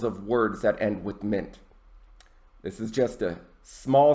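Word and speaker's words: -ment: at the first one mint that's pronounced mint not pronounced meant mint mint at the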